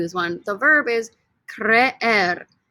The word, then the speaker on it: creer: The verb is creer. This one's kind of weird because there's two E's right next to each other. Repeat after me. Creer, creer, creer. You pronounce both E's, okay?